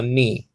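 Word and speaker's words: nu: greek like a nancy it's called new according to biblical greek but according to according to modern greek it's called the knee okay um that w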